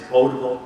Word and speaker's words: potable: the Webster Webster's Dictionary pronunciation it is votable rhymes with floatable Gerald you're not in